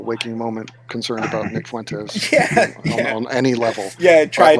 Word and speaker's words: Fuentes: I like how he really pronounces the U in Fuentes, right? Fuentes.